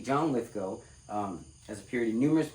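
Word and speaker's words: Lithgow: For years, I call this guy John Lithgal cuz that's how his name is spelled. Now, it's actually John Lithco um has appeared in numerous movie roles, television roles over the years.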